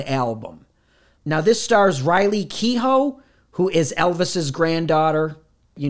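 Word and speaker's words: Keough: Now, this stars Riley Kehoe, who is Elvis's granddaughter. You knew that, right? Is that how you pronounce that? Kehoe?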